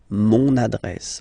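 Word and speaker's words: mon adresse: address my address address mon address okay you can hear now this little link so you've got to pronounce this n mon address address okay and the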